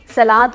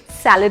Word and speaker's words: salad: SALAD, सलाद को English में सलाद नहीं कहते, सैलड बोलते हैं, सैलड। आप US प्रोनाउंसिएशन देखें या ब्रिटिश प्रोनाउंसिएशन देखें, इट इज सैलड, इट इज नॉट सलाद in English, it इज सैलड।